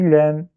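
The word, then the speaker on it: لام: On dit Lem. Et ça quoi? Et dernière lettre, c'est quoi? C'est Mim. On dit Mim. Du coup, la première case, on va lire carrément Elif, Lem, Mim.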